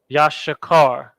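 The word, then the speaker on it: יששכר: in come on now Yash boom Yash Shah now we have car boom it's like that yashikar and that's the tribe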